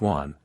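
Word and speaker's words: 卍: In China the swastika sign is pronounced wan, meaning a great number, a multitude, great happiness, longevity.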